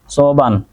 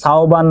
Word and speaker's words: সৌবান: সোবান স্যার, আমার নাম সাওবান না সৌবান, ঠিক আছে সৌবান।